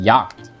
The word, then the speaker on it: Jagd: Okay, so apparently this is a German word and is actually pronounced Jagd.